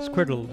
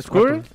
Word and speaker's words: Squirtle: Y embotellarían el agua de los ¿cómo se pronuncia? Squirtle. ¿Squirtle?